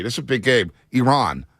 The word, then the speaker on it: Iran: a big game Iran it's Iran not Iran everybody Iran as that uh Iranian journalists uh checked one of the USA players said it's not Iran it's Iran we always get our country mispronounced okay Iran we got you